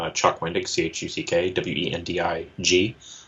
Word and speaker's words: Wendig: Then on Twitter, which is first name, last name, Chuck Wendig, Chuck, Wendig. Not Wending, because people misspell it that way, or Wingding. I'm not Wingding.